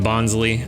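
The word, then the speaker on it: Bonsly: bonley I don't know I've always pronounced it bonley I've heard a lot of people recently saying bons kind of makes sense with the whole Sly nature of it with it being a fake tree but for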